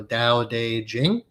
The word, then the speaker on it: Dao De Jing: essentially the Taoist Bible so Dao de Jing spelled with a t t a o so the down day